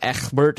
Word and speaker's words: Ecgbert: We pick up the legacy of Ecgbert in episode 7. That's how you have to pronounce it. It's just the Anglo-Saxon way, Matt.